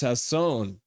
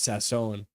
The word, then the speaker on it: Sasson: has come out and said his name is pronounced Sasson so everyone who watches nuad should know that his name is Sasson because nuad has been pronouncing it properly so